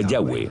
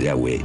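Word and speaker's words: Yahvé: y h w h pensamos que probablemente se pronunciaba yagüe o algo así pero ya ve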